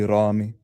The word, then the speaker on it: Remy: Yeah probably like in Arabic it would be Ramy Ramy but like my where we're from we pronounce it as Remy.